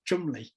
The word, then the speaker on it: Cholmondeley: It's spelt Cholmondeley, but I think they pronounce it Chumley.